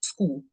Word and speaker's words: Skool: own community on it, which is called School, which is spelled SKOOL.